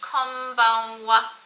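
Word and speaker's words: こんばんは: It's pronounced konbanwa.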